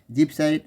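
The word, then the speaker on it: gibbsite: এটা জিপসাইড বলে, আবার অনেক বইতে দেখবে গিপসাইড লেখা আছে, কেন ইংরেজিতে সেটা জি উচ্চারণ হয় আবার গ হয়, তাই এটা গিপসাইড বা জিপসাইড।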